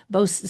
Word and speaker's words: Bostock: So for the listener, it's Bostock. So we'll call it Bostock decision.